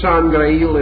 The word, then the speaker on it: Sangreil: And the word Sangreil itself has 2 possible pronunciations which are very interesting.